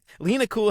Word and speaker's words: Lena Kul: Did I pronounce it correctly? Yes. Cool. All right, cool. Sweet. All right. Lena Kul has been a guiding force for many designers throughout their careers.